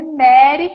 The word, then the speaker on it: Mari: fazer uma pequena correção o meu nome é Mary se escreve Mari mas se pronuncia Mary mas não sei quem